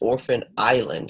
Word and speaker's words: Orphan Island: this one is pronounced orphan island so the Ellis Island I mean sorry the S is silent and can you read